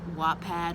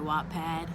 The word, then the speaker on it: Wattpad: already writing on the app wattpad or whatpad however you pronounce i pronounce it wattpad and i found out